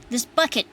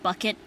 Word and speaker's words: Bucket: I was remembering um the old British TV show keeping up appearances with uh the main character whose name was uh higher bucket, but she always pronounced it bouquet.